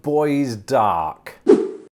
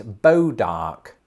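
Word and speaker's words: Bois d'Arc: not even in america so i think it's more along the lines of boys dark no they've taken it in a completely different direction apparently it's bo dark wasn't she in tarzan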